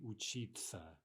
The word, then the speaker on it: учиться: So we write, for example, учиться, but we say учиться, учиться.